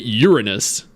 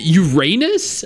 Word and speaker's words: Uranus: Stakes pronounces it Uranus. Okay, genuine question, chat. Do you Do you pronounce it Uranus or Uranus? Uranus for one or Uranus for two?